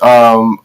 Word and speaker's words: Aang: Like instead of Aang, it's On.